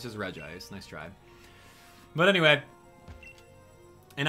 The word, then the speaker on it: Regice: So this is going to be Regice, not Regice, which I know some of you guys like to pronounce with a double I. No, it's just Regice.